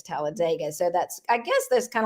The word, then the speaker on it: Talladega: So now I know that the locals say Talladega and everyone else says Talladega.